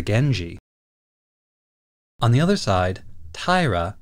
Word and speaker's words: Genji: The character for clan is generally read as shi, but when it follows the N sound at the end of gen, it becomes ji. So the Minamoto clan can also be called the Genji.